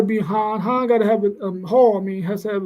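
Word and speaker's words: Haugh: han han gotta have Hall I mean has to have a I think that's how you say his name h a u g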